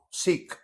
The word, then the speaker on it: Seekh: Sikh. And the Cass Sikh, says not so. Sikh as in the religion. Sikh. You can spell it Seekh.